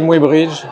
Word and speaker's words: Muybridge: Ce livre où tu racontes la vie mouvementée d'Edouard, j'arrive pas à prononcer, Muybridge. Ah oui, en français on dit Muybridge, les Anglais le prononcent différemment.